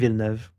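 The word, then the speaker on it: Villeneuve: Uh, a lot of people don't really seem to know how to pronounce his name, which is funny to me. It's Denv.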